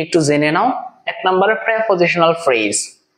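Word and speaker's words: preposition: যেমন স্যার আমি তো প্রেপোজিশনাল ফ্রেজ সম্পর্কে আমার ধারণা নাই, আমি ছোট মানুষ, গরিব মানুষ, আমার তো এই প্রেপোজিশনাল ফ্রেজ সম্পর্কে ধারণা নাই, আমরা বলি এটাকে প্রিপোজিশন, আসলে এটা হচ্ছে প্রেপোজিশন।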